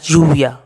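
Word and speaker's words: lluvia: ऐसे ही ला यूविया, ला यूविया मतलब the rain. अब कुछ लोग इसको ज की तरह भी प्रोनाउंस करते हैं, ठीक है, जैसे हिंदी का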